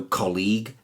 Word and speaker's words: colleague: I did there mmm-hmm words the end gue or L o gue in those cases the U is silent and it hardens the G so colleague lead tongue catalogue dialog analog and indeed epilogue so the first group